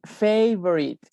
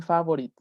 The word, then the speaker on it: favorite: Y favorite. Cuidado con esa palabra porque siempre estoy corrigiendo que dicen favorite. No es favorite. La A se pronuncia como en el alfabeto.